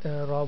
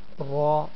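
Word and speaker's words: ر: sometimes we'll read the ra lightly. What is the situation when we'll read ra boldly? So definitely when ra has any of movement upon it, then we should pronounce ra boldly.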